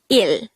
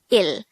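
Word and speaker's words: 일: First, the Sino-Korean version of number 1 is il. This is just composed of one syllable, which is il.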